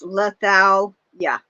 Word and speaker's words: Lethaleya: Yeah, it's pronounced Lethaleya. I just figured out how to pronounce it. I mean, because the Greek words are Letha, and Leia.